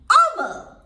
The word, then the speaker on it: hour: An hour.